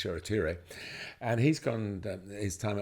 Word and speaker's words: Shoretire: days they signed a player from England, Pauk, Shoretire, that's how it's pronounced. He was called Shortire in his young, he's still young now, but